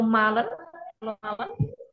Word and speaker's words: malen: Nah, kalau malen, wie ist die Aussprache?